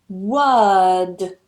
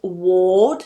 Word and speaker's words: word: Careful you're not pronouncing it as ward and you're not getting influenced by that O.